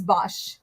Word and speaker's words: Bosch: I was like Bork and all this other stuff. It's Bosch. Thank you. Okay, gotcha. Yeah. See, I was thinking it was like BRURK, like some ridiculously difficult to pronounce. Okay, never mind. Maybe it is just Bosch.